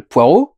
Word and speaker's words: Poirot: prononciation anglaise parce que c'est il s'appelle hercule poirot et il est belge donc ça se prononce les reculs et les anglais disent caractérise